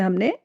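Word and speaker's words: hymn: इसका रूल्स देखिए आप, शब्द के अंत में एम के तुरंत बाद एन आता है तो एन जो है वो साइलेंट हो जाता है। स्पेलिंग से देखिए, ऑटम, कॉलम, हिम, इन सारी ही स्पेलिंग्स में आप देखिए एन जो लेटर्स है वो यूज तो किया गया है, बट प्रोनाउंस करते समय उसको साइलेंट कर दिया गया है, उसको मूक बना दिया गया है।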